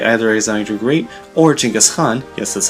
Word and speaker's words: Genghis Khan: India is notable for not being conquered by either Alexander the Great or Genghis Khan, yes, that's how you pronounce his name.